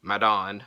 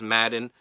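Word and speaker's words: Madan: Next, Sky Blue versus Kelly Madon. I think it's Madden. Madon is spelled M-A-D-A-N.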